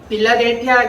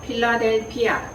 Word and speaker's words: 필라델피아: 여러분이 되었으면 좋겠습니다 오늘은 빌라델비아 교회에 대한 말씀을 증가 할 거에요 빌라델비아 라고 우리가 이렇게 발음을 하지만 원래는 뭐예요 어떻게 바라 보네요 필라델피아 필라델피아 에요 이란 애기야 자 필라델피아